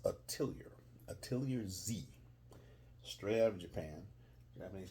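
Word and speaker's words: Atelier Z: familiar with it you may not it's uh pronounced atiar atiar Z straight out of Japan Japanese crafts ship Japanese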